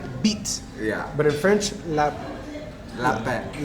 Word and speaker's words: lapin: And this is the lapine. Beet. Bon appetit. La beet. Beet. Beet. In Malagasy they call rabbit beet. Yeah. But in French, Lapin. lapin. Yeah. You don't pronounce the N.